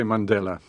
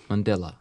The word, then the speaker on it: Mandela: yeah so this is nelson mandela rhymes with stella and stella is a